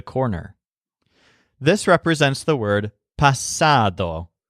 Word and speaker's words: pasado: this represents the word pasado which means past but it has the stressed syllable sad pasado this can be used